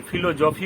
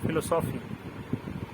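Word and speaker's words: philosophy: আবার ফিলোসফি যখন বলছি, ফিলোসফি, তখন দেখবা এটা কিছু উজ্জ থেকে যাচ্ছে। আমরা কি ফিলোজফি বলি? বলি না, ফিলোসফি। ঠিক তেমনি ফল।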